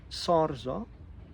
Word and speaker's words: SARZA: do so when you call this organization um sarza it's spelled s a r z a so if